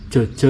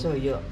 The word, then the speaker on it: Jojo: Jojo itu kalau di sini tulisannya Jojo, tapi bacanya Joyo. Joyo.